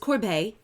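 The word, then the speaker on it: corbeille: the next one down Courbet it's pronounced corbeil it's a French word if you just look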